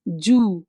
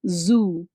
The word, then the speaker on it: zoo: When we see the words, it's Jew, they say. This is absolutely wrong, but it is zoo, okay?